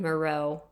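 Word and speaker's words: Miroth: He murders a mother, 38-year-old Evelyn Moreau. Or it's spelled Maroth, but I believe it's pronounced Moreau.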